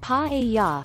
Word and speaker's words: paella: Paella, pronounced pa-e-ya, is one of Spain's most iconic and beloved dishes.